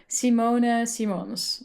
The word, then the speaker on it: Simone Simons: Um the Dutch way to pronounce my name would be would be Simona Simons, but I've been called many different variations Simona Simons.